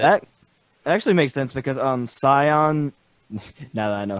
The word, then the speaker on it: Scion: Scion. Scion? Yeah, Scion.